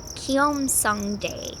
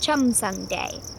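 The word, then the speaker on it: 첨성대: The tower is called Kiom Day. Is that how you say it? Oh, thanks, Percy. He said it's pronounced Chum Day, which means stargazing tower.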